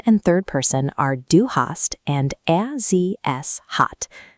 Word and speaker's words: hast: Second and third person are du hast and er, sie, es hat. The b disappears entirely.